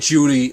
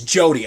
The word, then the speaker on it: Jodie: I said Judy or Julie. It's Jodie.